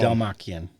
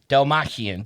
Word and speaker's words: Dalmatian: Dalmachian. Dalmatian. Dalmatian. I said it wrong too.